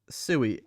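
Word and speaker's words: sui: You don't know how to pronounce that word. It is sooie.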